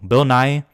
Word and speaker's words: Bill Nighy: Bill Nighy, which I guess that's how it's pronounced, not Nighy.